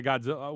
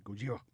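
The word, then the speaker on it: Gojira: Ryan's story apparently he he refused to say Godzilla in in the English pronunciation which is why he always said godilla which I'm actually kind of happy about right yeah I mean that's the way that it should be I'm with you I don't care I mean it's originated it originated out the story originated out of Japan that's the way that they pronounce it over there if you're going to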